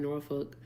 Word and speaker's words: Norfolk: Hannah sent a $2 dono and said the L is soft in Norfolk.